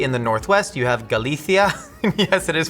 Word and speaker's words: Galicia: Mostly in the northwest, you have Galathia. Yes, it is pronounced Galathia.